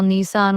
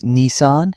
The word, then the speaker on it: Nissan: People often call Nissan with stress on the second syllable. In Japan, it's Nissan, short and crisp.